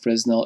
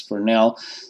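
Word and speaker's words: Fresnel: do not pronounce that Fresno it's a French word so it's pronounced as for now so we can put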